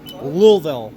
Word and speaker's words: Louisville: We're about what 5-10 miles north of Nashville or Louisville. Yeah. Louisville. You got to say it like you got your tongue cut out.